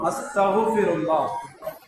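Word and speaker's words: أستغفر الله: மிக சுருக்கமாக சொல்லுவதானால் அஸ்தக்ஃபிருல்லாஹ் என்று சொல்லலாம். உச்சரிப்பு கைன் உச்சரிப்பு வரும், அஸ்தக்ஃபிருல்லாஹ், அஸ்தக்ஃபிருல்லாஹ், யா அல்லாஹ் உன்னிடம் நான் மன்னிப்பு கேட்கிறேன்.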